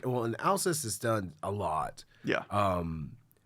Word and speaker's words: Alcest: Alcest. Alcest. Alka-Seltzer.